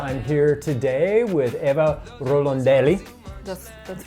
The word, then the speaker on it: Rorandelli: the content podcast I'm here today with Eva rolandelli that's that's right perect good pronunciation very good who is the founder and